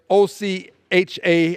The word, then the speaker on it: OCHA: office for for the coordination of humanitarian Affairs OC ha I will pronounce it Ocha says as of early February